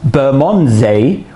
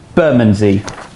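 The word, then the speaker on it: Bermondsey: as hoben not holborn some would call this bermondze when actually it's called burmanzee some would pronounce this higgham's park but it's hayam's park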